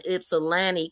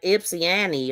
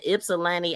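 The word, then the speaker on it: Ypsilanti: He was supposed to be going to her house and she was mispronouncing Ipsilani calling it IP ips. She was saying it's so Jack, but she was like Ipsyani or Ipsiana or something.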